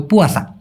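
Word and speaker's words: puasa: অনেকে বলে পচা। না ভাই এটা হবে পুয়াসা।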